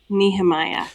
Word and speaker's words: Nehemia: Can you tell us how you pronounce Nehemia? Yeah. Her name is Nehemiah.